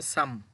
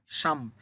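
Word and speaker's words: 삼: তাহলে উচ্চারণ হবে শুধু ই। ই মানে হচ্ছে ২। এরপরে কি আছে? এরপর আছে সাম।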